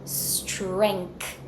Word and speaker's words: strength: followed by the K I have a hidden K in this word so I want to hear that K from you strength bring your tongue forward for the th and then slide it back for the S very very lightly keep that very light flow if you put everything